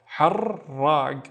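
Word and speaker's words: حراق: So we need to pronounce the ra twice. Let's read the first syllable. Har, and then rag. Harrag, which means spicy.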